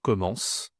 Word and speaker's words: commence: Attention, ici c'est pas commencer, c'est commence. OK. Beaucoup de étudiants prononcent le e à la fin. En au présent, tu dois tu ne dois pas prononcer le e.